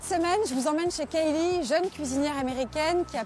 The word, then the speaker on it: Caleigh: tablier, c'est donc Kaylee. Ça s'écrit pas du tout comme ça, c'est écrit C-A-L-E.